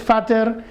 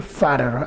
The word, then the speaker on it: fatter: Aquí no se pronuncia de esa manera, tienes que decir fatter, a ver, como si fuera una R-E-R, fatter, conmigo, fatter.